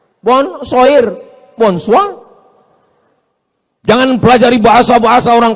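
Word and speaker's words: bonsoir: Bacanya bonjou. Bon sair, bonsa.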